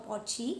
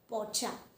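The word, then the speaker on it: Porsche: It is Pocha. It is not Poch or Pochi. It is Pocha.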